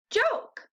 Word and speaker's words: joke: more j oak joke remember these words have only three sounds but they have four letters that makes them tricky to spell you have to remember that there's a silent e at the end making the other vowel say that sound let's look at our